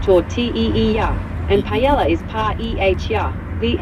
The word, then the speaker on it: paella: Tortilla is pronounced tortilla, and paella is pa-e-h-ya.